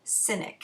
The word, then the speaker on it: Sinek: It's by Simon Sinek, and I believe that's how you pronounce his last name.